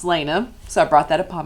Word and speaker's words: Lana: My name is pronounced Lana, which I know is very misleading for my Instagram and TikTok handle, which is a play off Lana Del Rey, obviously. It's pronounced Lana, so I brought that upon myself.